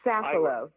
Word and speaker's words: Safilo: I believe I pronounced that right, I'm hoping. It's Safilo.